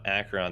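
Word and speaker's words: Acheron: was able to find a little bit about akron the reason i was having trouble is because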